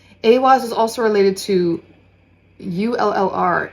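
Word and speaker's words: Eihwaz: So Awaz is the pronunciation of this rune here.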